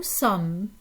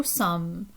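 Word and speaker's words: sommes: is we that's nu sum nu sum okay and in in the case of sum we're not pronouncing the last three letters they're silent okay so that's a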